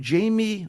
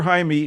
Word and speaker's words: Jaime: 2006 uh when young Jamie or Jaime Jaime Reyes we'll call him Jaime let's get the pronunciation proper here Jaime Reyes it looks like Jamie a Mexican-American teenager bonded